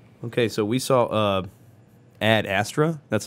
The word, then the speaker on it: Ad Astra: you Peter okay so we saw a ad astra that's how it's pronounced right yes okay with a Brad Pitt